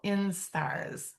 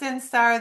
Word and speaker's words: instar: So, the egg hatches, becomes a caterpillar, and during that time, the the monarchs go through five laral instars. So, that word is spelled just like it sounds, I N S T A R instar.